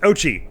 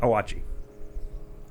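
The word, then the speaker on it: Oatchi: anyway um number two it's pronounced Ochi not owachi sorry says it right on the Nintendo website no number three I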